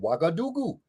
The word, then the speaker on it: Ouagadougou: And nobody know how to pronounce it because it's spelled O-U-G-A instead of W-A. The sound is hua, hua, and that comes from Meduneta with the sound of hu, which is like it's